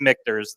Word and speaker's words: Michter's: make mters okay H I've heard it just kind of like Louisville can be said seven different ways MERS I've heard many different uh pronunciation so it is mters though by 1989 though